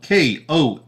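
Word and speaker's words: Kosciusko: okay let's see here okay so this city is spelled k-o-s-c-i-u-s-k-o uh hang on folks one second there we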